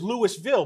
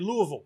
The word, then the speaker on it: Louisville: no it looks like it says Louisville but it's actually Louisville it's a very contentious issue if you say Louisville or Louisville you get called out very quickly they say You're supposed to sound say it like you have a spoon in your mouth it's a l they